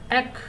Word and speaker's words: ache: एक, यहाँ पे देखिए ACH, ई साइलेंट है।